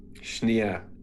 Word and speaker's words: Schnee: said what i said s-c-h-n-e-e oh schnee schneer is how she pronounced that it's how she pronounced it anyway ace if you